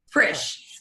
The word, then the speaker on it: Frisch: Frisch. Rhymes with fish. Super easy. Put an R in it.